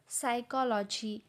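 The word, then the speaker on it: psychology: काही शब्दांमध्ये काही अक्षर लिहिली तर जातात पण त्यांचा उच्चार होत नाही कारण ते तिथे सायलेंट असतात जसं की न्यूमोनिया न्यूमॅटिक न्यूमॅटिक्स सायकॉलॉजी एक्सट्रा या शब्दांमध्ये तुम्हाला त्या शब्दांच्या स्पेलिंग मध्ये पी लिहिलेला दिसतो पण त्याचा उच्चार तिथे होत नाही कारण तो सायलेंट आहे तर पी कुठे कुठे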